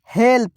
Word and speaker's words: help: ल का इस्तेमाल करेंगे क्योंकि ल जो है थोड़ा साइलेंट हो जा रहा है। तो यहाँ HELP है तो आधा ल लिखेंगे। क्या तो आधा ल, आप पूरा प। एक साथ पढ़ेंगे, हेल्प।